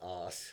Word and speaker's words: As: It's pronounced as, unfortunately. It means A flat.